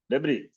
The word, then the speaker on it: debris: Here, this is yes is silent. Debris.